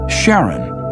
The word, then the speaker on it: Charon: Christie suggested the name Charon after the ferryman of Pluto's underworld in Greek mythology, but preferred to pronounce it Charon, more like his wife's name, Charlene.